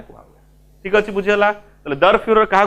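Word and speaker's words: Der Führer: तांको शासक को लीडर को जो नारे डाकंती उच्चारणटा भले सुनिबो दर फ्यूरर ठीक अछि जर्मन भाषा रे कुआ ठीक अछि बुझियला तले दर फ्यूरर काहा को कुआ होची जेतो जर्मन्स माने हिटलर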